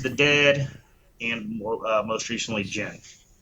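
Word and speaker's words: Djinn: Dead, and most recently Jen. Is that how you pronounce that? D-J-I-N-N, Jen?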